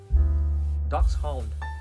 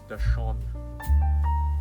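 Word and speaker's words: Dachshund: This is duck's hound. Some people pronounce it as Dashon, but I've actually read it up and the right name is ducks H.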